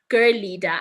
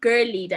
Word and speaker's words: Girleada: yes it's spelled Girl leader but it's actually pronounced Girl leader I think I've had such an interesting encounter with listening to the different pronunciations that people have for this organization but it's Girl leader it's said Girl leader but it's spelled Girl